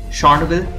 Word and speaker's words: Chornobyl: Did you know that the developers changed the name from Chornobyl to Chornobyl? It was after Russia invaded Ukraine and they changed it to a later Ukrainian pronunciation.